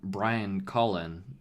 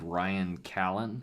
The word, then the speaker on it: Brian Colin: the little topic about Brian Colin and one I pronounced his name wrong it was I think I said Ryan Callen and that's just that's just totally totally wrong I won I was